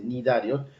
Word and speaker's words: cnidarios: La C antes de la N no se pronuncia, por eso es que se dice nidarios cuando se escribe C nidario o C nidocitos, no se pronuncia la C, entonces es nidocitos sus